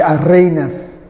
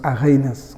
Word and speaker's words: Arrhenius: Zvante Arrhenius. Ngimbiza ngendlela bempronounce ngayo. Thina singathi Arrhenius. Kodwa bona ngalena endaweni la qhamuka khona ukuthi Arrhenius ngoba phela bangazi baphatheke kabi.